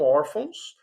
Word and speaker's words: órfãos: Um acento agudo, aqui na letrinha O, né, elas são paroxítonas, que é a sílaba, a penúltima.